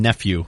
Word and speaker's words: Nephew: your last name Nathan nephew NE nephew can you spell that for me uhhuh I can uh just like the word though if you need